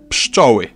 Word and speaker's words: pszczoły: Last word in our monstrosity, pszczoły. By now you've realized that what may look like 5 consonants stuck together is actually just 3.